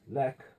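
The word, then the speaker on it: לֵךְ: And if it's pronounced lek, it tends to mean go, or went, or walk even.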